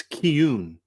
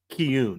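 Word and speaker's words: Cian: Apparently, Trevor, it's Kun. C I A N is pronounced Kune.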